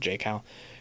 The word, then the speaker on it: Jackal: I feel like it's spelt Jackal, but they said J-Cal, who's the like brave leader whose armor is like a hawk, like Horus.